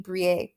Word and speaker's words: Briet: I think for sure on one episode in the past, I accidentally said BRIET or BRIET, and it's actually BRIET. It's a French name. It is named after Suzanne BRIET.